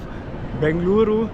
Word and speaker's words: Bengaluru: We love Bengaluru, or that's a question I have. On my Google Maps it's Bangalore, I think that's the English pronunciation, Yeah, it's but on the Bangalore. locals I saw Bengaluru, so you can say